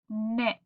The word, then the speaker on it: knit: For example, this word right here, KN, and the K is silent, so it says n, then IT, it. So this word is knit.